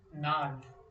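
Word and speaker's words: gnarled: नाल्ड, इसमें जी साइलेंट होता है तो हम इसे नाल्ड बोलते हैं।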